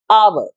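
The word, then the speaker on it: hour: है एक वॉवल की, आर, एच साइलेंट है इधर, इसलिए इससे पहले भी लगता है एन, आवर।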